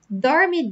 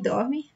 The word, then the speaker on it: dorme: Now, dorme, dorme, meu amor. Here you can see that difference in the pronunciation I told you with the R letter.